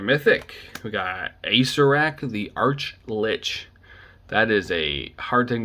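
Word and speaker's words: archlich: arc arch oh jesus arch lich is arclich because it's spelled like arch like you know the structure arch lich it's a very it's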